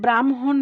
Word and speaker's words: ব্রাহ্মণ: ঠিক আছে, পরেরটায় দেখি, পরেরটা খেয়াল করো, পরের রুলসে হয়ের সাথে যদি ম থাকে, হয়ের সাথে ম থাকলে তার উচ্চারণ হয় এমএইচ এর মতো, এমএইচ। যেমন দেখো ব্রাহ্মণ বানান, দেখো আমাদের এই